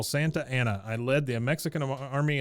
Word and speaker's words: Santa Anna: only one Santa as he is the only one that pronounces it correctly he says I am General Santa Anna I led the Mexican